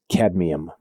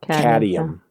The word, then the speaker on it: cadmium: Cadmium. Cuz it's the you know, like it's not cadium. You know, cadmium.